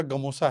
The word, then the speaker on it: गमोसा: ये तो आसाम का गमोसा है आसाम का गमोसा गमोसा गमोसा गमछा को गमोसा बोलते हैं। मतलब उनका थोड़ा प्रोनाउंसिएशन हम लोगों से थोड़ा सा अलग-अलग होता है।